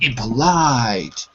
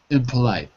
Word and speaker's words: impolite: the other syllables so instead of saying impolite we say imp we go we change the E to an and the o to an impolite impolite and we pronounce The Vow